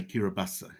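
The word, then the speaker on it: Kiribati: kirabasa and kiribus and they say kirobasa is how they pronounce it so I'll try to use their pronunciation kiribata is a series of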